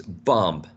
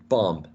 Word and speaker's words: bomb: The only one different was bomb, right? Bomb, which sometimes could be a short O or even a long A, depending on the dialect. It could be bomb or bomb, right?